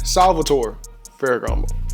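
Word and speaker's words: Salvatore Ferragamo: much it costs what that's not how you say it excuse me it's actually Salvatore fairo now for this fragrance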